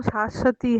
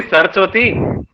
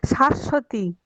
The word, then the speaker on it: शाश्वती: मेरा नाम शाश्वती है। क्या दीदी, सरस्वती? नहीं, शाश्वती।